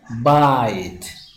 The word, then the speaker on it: bite: lagu daro silent e lagu daro soo noqonaya bite so waxay u sameysay I sound or dare